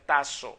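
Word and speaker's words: τάσσω: es una palabra que se pronuncia tazo con doble s y significa Designar arreglar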